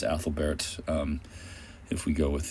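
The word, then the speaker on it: Æthelberht: um that's spelled Ethlbert I believe in the in the Giri but it's actually pronounced Athlbert um if we go with the Anglo-Saxon but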